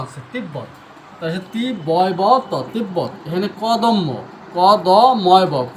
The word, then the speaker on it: তিব্বত: আর এটা কেন ব এখানে কিন্তু ব এর উচ্চারণ আছে। তিব্বত বত তিব্ব এখানে কদম কদ ম কদম এখানে ব ফলার উচ্চারণ হচ্ছে ব ডাইরেক্ট ব এর উচ্চারণ হচ্ছে।